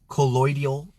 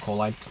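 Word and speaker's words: colloidal: Um, if you guys don't know where any of these things are, like silver collide that we're talking colloidial is actually how you say it. I call it collide.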